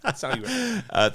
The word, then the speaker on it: Saint Hubert: I always say Saint Hubert. Saint Hubert. Thank you so much for the French pronunciation.